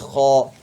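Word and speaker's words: خ: The first letter is kha. The first letter is kha. This one, a lot of people make mistake. They say it like ha.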